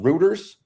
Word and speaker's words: Reuters: It's pronounced Reuters. REU. I always say routers, but it might be routers. I've heard it a few different. I just say routers.